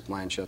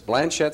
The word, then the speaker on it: Blanchet: norber Blanche School better known around here as Blanchett school now sometimes I may slip into that French pronunciation we'll talk about that in a few minutes but it's Blanchett school you're the principal and the president tell